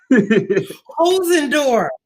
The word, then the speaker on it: Holzendorf: the K Patrice show hos andorf right there H and DF right hosen door yeah and it only